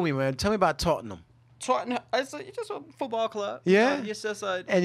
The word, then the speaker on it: Tottenham: and Newcastle Wow okay they don't pronounce ham I don't think they say ham huh like cause it's Tottenham